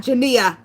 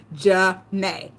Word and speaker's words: Janae: No, not Jania. Janae. Syllables. Janae.